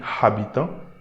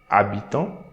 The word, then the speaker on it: habitants: Les habitants, you see, I'm not saying habitants, les habitants, ville comme campagne, décorent leur